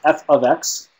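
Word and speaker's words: f(x): This is pronounced f of x. That's how you pronounce this symbol.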